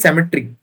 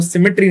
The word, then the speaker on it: cemetery: Next word is सेमेट्री. इसको सिमेट्री नहीं बोलते, इसको बोलते हैं सेमेट्री. इसका जो प्रोनाउंसिएशन है इट इज cemetery.